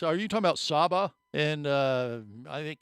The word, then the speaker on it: Saba: are you talking about saba and uh I think it's Indonesia or something no there's an island called Saba sa and that's how they say it in the Caribbean and it's truly unique